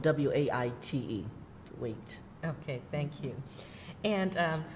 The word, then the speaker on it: Waite: So the last name is spelled W-A-I-T-E, Waite.